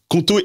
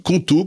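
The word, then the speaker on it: Qonto: Conto est là pour te simplifier la vie d'entrepreneur.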